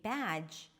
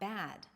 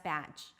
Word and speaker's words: bad: To say the D, bad, you want to bring the tip of the tongue up and to block the air completely.